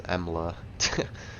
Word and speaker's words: EMLA: It's not Amula, it's Emla. Saying it wrong.